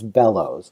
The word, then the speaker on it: Belous: to tell people that pretend there's an extra l and a w in there and that's easier to think about so it's just bellows uh but um because